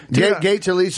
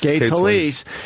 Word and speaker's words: Gay Talese: Gay Talese is from Alabama.